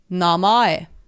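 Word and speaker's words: 名前: It also reminds me, the English word for name also reminds me a little bit of the Japanese word for name, namae.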